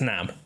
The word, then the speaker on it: NAM: This one, everyone agrees it's NAM.